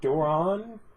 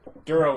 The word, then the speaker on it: Duro: Is that Duran? Is that how you pronounce it? Duro is the species. Yeah, Some guy named Duro. Some Duro. Yeah, like I mispronounced it.